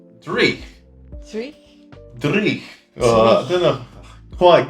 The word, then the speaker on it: dreich: It's definitely got, obviously, the Norse influence there, so it's got that real, Sounds like, Germanic. back of the throat. Yeah. Like, Like- dreich.